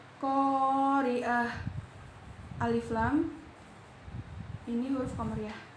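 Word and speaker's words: القارعة: Huruf qamariyah di sini ialah qaf. Cara membacanya yaitu lamnya dibaca jelas. Qari'ah, alif lam ini huruf qamariyah, lamnya dibaca jelas.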